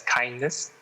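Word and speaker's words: KINDNS: the the kindness initiative i think it's spelled as k-i-n-d-n-s but we will pronounce it as kindness um yes yeah but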